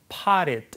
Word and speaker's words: potted: 북미 발음으로 하니까 이제 T 발음은 부드럽게 리을처럼 발음돼서 potted 이렇게 발음되죠.